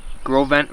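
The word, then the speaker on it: Gros Ventre: This is the Grovent River. It's like Gross Venture, it looks like if you spell it out, but see if I can catch a trout.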